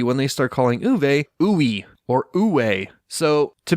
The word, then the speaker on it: Uwe: Uwe. W's are pronounced like V's.